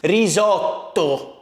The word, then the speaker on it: risotto: Today we're gonna be making risotto, which in Italian, by the way, is pronounced risotto. See, in Italy we have this thing where we pronounce double letters. We have double letters and we pronounce them risotto.